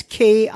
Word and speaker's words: Kimia: Kimia writes in, I think you would pronounce her name Kimia. It's Kimia. Nonetheless, she DM'd on the